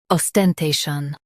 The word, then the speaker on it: ostentation: Os, ten, te, shun, ostentation. Emphasize te and keep shun light.